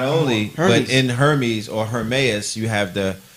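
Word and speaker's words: Ermias: She pronounced it Hermes.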